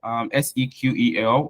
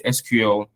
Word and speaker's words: SQL: Some persons call it SQL, as we have here, SEQEL, which is the pronunciation. And other persons just decide to say, oh, it's SQL. Depends on whichever you want to say. However, they are both correct, right?